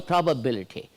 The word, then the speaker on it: probability: In pronunciation, it should be Lati. It is not Liti.